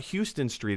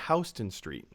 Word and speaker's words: Houston Street: It's not Houston Street. It's Houston Street.